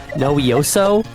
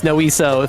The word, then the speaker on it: Noiso: So if anyone else, it's there are fewer syllables than I expected. It's noiso.